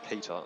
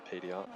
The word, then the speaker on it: PTR: It's pronounced Peter, not PTR.